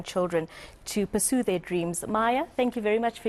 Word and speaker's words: Mia: was singer and songwriter it's pronounced Maya and she will be